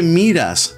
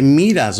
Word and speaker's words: miras: So instead of saying, "¿Qué miras, bobo?" in Argentina, they say, "¿Qué miras, bobo?" So the second syllable of miras is emphasized.